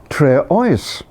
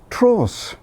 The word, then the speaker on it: Treoes: saw the place name my first inclination was to pronounce it Tre o but then the locals pronounce it Tross but if you go